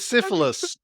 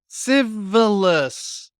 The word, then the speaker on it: Civilis: I'm with I'm with syphilis." And people were like, "Let's get Stan and Barry on that, shall we?" He would be like, "It's pronounced civilis. I keep telling you it's a hard thing."